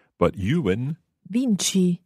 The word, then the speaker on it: vinci: Vinci. Vinci. So the CI there gives us the ch sound.